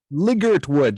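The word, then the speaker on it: Ligertwood: The Santana singer, Liggert Wood, just like it's spelled.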